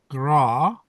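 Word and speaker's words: grá: But I fancy that the Irish word for love, pronounced gra, to rhyme with na, must always have been a handicap.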